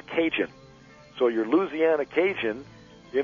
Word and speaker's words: Cajun: French territory and um these acadians from Canada the term ended up being pronounced cinjun so your Louisiana Cajun